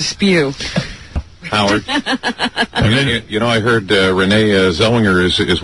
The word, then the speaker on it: Zellweger: Is that Zellinger? Yeah. No, there's... All right, Renee Zellweger. It's a W, right? Clearly a W. All right, let's hear you pronounce it. Renee Zellweger.